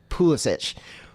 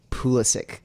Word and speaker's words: Pulisic: that there's on FIFA the commentators will say pulish but apparently the way that you're supposed to pronounce it is pulisic or psic yeah pulisic psic what did the